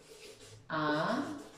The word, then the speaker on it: amistad: Si yo lo separo en sílabas, amistad. ¿Será una palabra aguda, amistad? Claro que sí es una palabra aguda. ¿Por qué? Porque su fuerza de voz recae sobre la última sílaba.